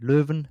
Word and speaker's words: Leuven: I think Loven, that is the good pronunciation spelled Lven.